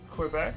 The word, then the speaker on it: Quebec: starts grant us strength you don't pronounce the U in Quebec so it should sound